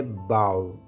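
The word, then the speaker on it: bow: में फनकार झुककर आदाब बजा लाते हैं इस लफ्ज की सही प्रोनंसिएशन है बाउ बाउ अगर आप इसे बो प्रोनाउंस करेंगे तो इसकी मीनिंग बदल जाएगी बिट बिट धोखा देना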